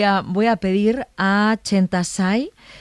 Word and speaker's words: Chenta Tsai: no sabía pronunciar mi nombre yo lo he pronunciado bien chentai perfecto chentai y para ella le lo era muy difícil